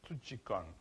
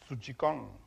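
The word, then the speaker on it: psuchikon: It is written like this, P-S-U-C-H-I-K-O-N, putchikon. Suchikon. Suchikon. Yeah, it's like psyche, yeah, exactly. The P in this word is silent.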